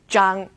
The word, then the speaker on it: zhang: ZH as in zhang or zhou. Think of the J sound in judge, and you've got this one, zhang.